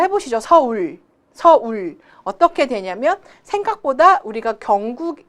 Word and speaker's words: 서울: 안 그러면 서울 발음이 어떻게 된다고요? 서을처럼 발음이 되기 때문에 부정확한 발음이 되고 있습니다.